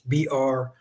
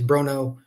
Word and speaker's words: Bronaugh: To spell the last name, it doesn't sound like it's spelled. It's Bronaugh. He told me it's Bronaugh, so I'm just going to go with it. That's what he told me, but it doesn't spell the way I thought it would in terms of the sound.